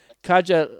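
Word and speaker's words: Katja: living in berlin and kajal lauren's is her name that's k-a-t-j-a so you can try to pronounce that as best used can but that's how i'm going to kaja uh so kaja is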